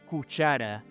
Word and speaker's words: Kusara: El primer pueblo relacionado con los hititas fue el reino de Kusara, y debo decir que la pronunciación correcta de la palabra es cuchara, pero digamos que a veces en la vida debemos cometer errores en nombre de un bien mayor.